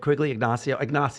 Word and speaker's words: Quiggle Ignacio: along the lines of this then because everything we're talking about, guys, by the way, of Quiggle Ignacio, is that how you Yes.